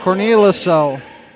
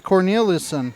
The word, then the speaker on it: Corneliuson: The three is good for Corneliuso. I may have said her name wrong because it's Corneliuson. That's why I'm messing up. I was forgetting an N there.